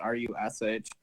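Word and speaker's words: Ruch: My last name is spelled R U C H, but it's pronounced R U S H.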